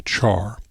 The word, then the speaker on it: char: storing textual data and I pronounce CH care some people say Char care is the fixed